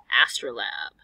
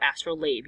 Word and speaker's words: astrolabe: Last card, astrolabe or astrolabe. You'll hear both definitions or both pronunciations.